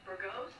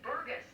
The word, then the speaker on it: Burgess: That's Burgess, Eric Burgess, and soon the whole world will know how to pronounce it. I tell people it's gust, like a gust of wind, gust.